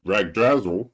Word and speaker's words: Yggdrasil: And when the computer system Ragdrazel, or Yggdrasil, they don't pronounce it like Yggdrasil though, when that breaks down, it sends bugs into the world.